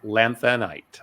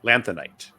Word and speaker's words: lanthanite: life cycle of a lanthanite lanthanite there we go that's how you say it yeah I don't